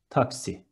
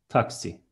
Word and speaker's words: taksi: Instead of X, we have K and S, and it is taxi. One more time, taxi.